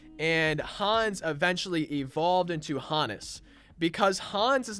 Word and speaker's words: Honus: has the pronunciation and to me this looks like Hannes like the way I'm saying it Hannes just like that H oh and n it looks like Hannes to me and then if we